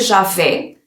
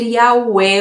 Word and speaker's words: Yahweh: Mesmo para o nome de Deus, não pode ser Javé. Terá que ser Yahweh ou algo assim, por causa das letras, da pronúncia.